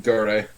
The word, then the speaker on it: Kakegurui: Gurui. It's pronounced Gurui, but it's I- spelled Gurui.